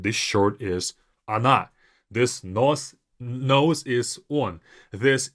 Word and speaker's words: она: But for these 3, the first O will sound as A, even though it's spelled as O.